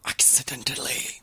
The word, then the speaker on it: Accidentally: Parce qu'en français, il y a comme 4 syllabes, en anglais, il y en a 3. Accidentally.